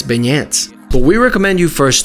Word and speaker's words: beignets: they usually say well it's like the name Ben and then e in the American way so it comes out